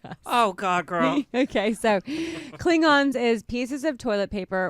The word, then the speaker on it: Klingons: this word is uh kilgon no that's not correct klingons is that really how you pronounce it yes oh i was gonna try and make it really technical and it was not that at all klingons klingons is